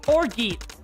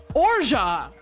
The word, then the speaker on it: orgeat: Google, how do I pronounce orgy? Orgy pronunciation. Orgeat. Orja! Ah, I was way off!